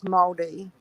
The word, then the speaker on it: Māori: It's pronounced as Māori.